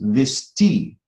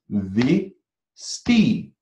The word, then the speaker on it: Visti: So for example, my name is Visti. Now, in the name Visti, there are 5 letters, but how many syllables are there? Visti. Visti. That's the number of aksharas. 1, 2. 2 aksharas are there.